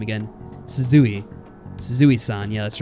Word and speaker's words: Suzui: How do I pronounce her name again? Suzui.